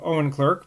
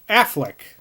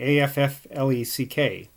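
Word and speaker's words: Auchinleck: this scottish i guess it's pronounced affleck so like ben affleck apparently a-f-f-l-e-c-k so i'll have to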